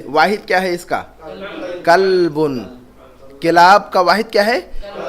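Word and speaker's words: كلب: اور یہ کتے کے لیے جو لفظ ہے یہ کلبن، چھوٹی قاف سے.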